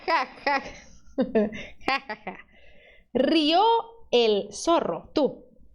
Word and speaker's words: rió: Rió el zorro. Tú. Ó, cuidado, você não tá abrindo esse O, né? Não tá dizendo rió, não, tá dizendo rió.